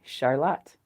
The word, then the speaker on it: Charlotte: And then we have Charlotte or what you think is Charlotte spelled like the girl's name, you know, C H A R L O T E. We say Charlotte.